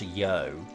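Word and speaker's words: 余: of referring to oneself i think it's pronounced yo and strangely is the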